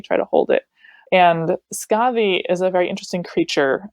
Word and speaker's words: Skadi: Her name in the medieval text is spelled Skafi. F is a letter that we no longer have in our modern English language, so it's usually spelled with a D or a DH, but it's really kind of a hard TH sound.